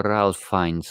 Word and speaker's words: Ralph Fiennes: Nie Ray, tylko Ralph Fiennes.